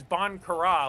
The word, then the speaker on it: Bon Courage: Yeah, but he said he said it was Bon Kurra, like Ireland. Oh, is it spelled that way? It's spelled Bon Courage.